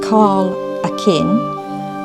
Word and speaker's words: Kyleakin: KYLEAKIN, which is pronounced KYLEAKIN, was named after the Viking king Håkon, who